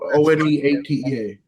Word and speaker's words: One8tea: For listeners, it's one, like, the word 1-8 and then the number 8 and then T, like as in TEA. Yeah. So One8tea.